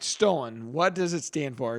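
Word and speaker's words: stolon: it's spelled St o l n but it's pronounced stolen and I'm going to give you it's multiple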